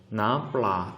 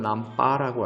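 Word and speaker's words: น้ำปลา: 예, 남플라 또는 남빠라고 하죠. 발음은 우리는 플라라고 배우지만요. 많은 태국인들은 요 발음을 이 러링을 묵음 처리합니다. 얘를 발음을 잘 안 해요. 예, 묵음. 그래서 어떨 때는 우리 귀에는 어떻게 들리냐면 빠라고 들립니다.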